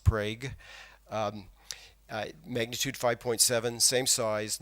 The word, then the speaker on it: Prague: no injuries no damage the 2011 Prague Oklahoma earthquake it really is pronounced Prague I magnitude 5.7 same